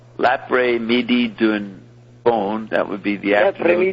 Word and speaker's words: L'après-midi d'un faune: setting of an erotic poem by Mallarmé called L'après-midi d'un faune, that would be the afternoon.